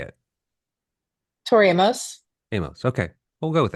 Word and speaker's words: Amos: Tori Amos?